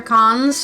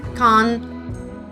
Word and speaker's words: Cannes: it's going to continue I think the S is silent I believe the S is even silent it's con anyways that's all you